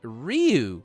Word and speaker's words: Ryu: It's Ryu. Sorry, not you. It's Ryu. It starts with an R. It's pronounced ooh. Ryu. No, not ooh either.